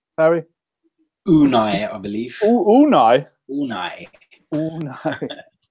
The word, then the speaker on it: Unai: Can anyone tell me how you actually pronounce his first name, Harry? Unai, I believe.